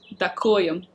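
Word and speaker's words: Ďakujem: i found a fence dakuyan thank you slovak that cool yeah well it's you spell it with a j so i thought it was a j but it's slovak so dakoyam that cool yum i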